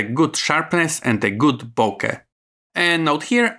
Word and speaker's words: bokeh: sharpness and a good bokeh. And note here, I'm using the standard, not the American pronunciation. So you will hear here Nikon, not Nikon, and bokeh, not bokeh.